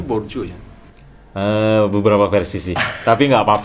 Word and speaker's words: Bourdieu: Bacanya Bourdieu ya.